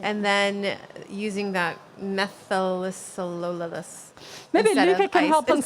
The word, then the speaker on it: methylcellulose: And then using that methylcellulose. Maybe instead Luca of can ice- help us instead of pronounce egg that.